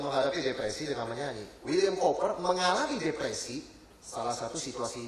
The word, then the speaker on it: Cowper: Salah satu di dalam sejarah, William Cowper, ya, bacanya Cowper itu saudara sekalian.